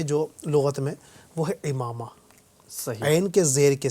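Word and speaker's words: عمامہ: تو جو درست تلفظ ہے جو لغت میں وہ ہے امامہ، صحیح، عین کے زیر کے ساتھ. صحیح. اور امامہ جو ہے وہ درست نہیں ہے، ٹھیک ہے،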